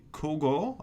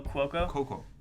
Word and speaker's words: Cuoco: So next one, Kaylee Kogo. I can't never say her name right. Kogo. Oh, Cuoco.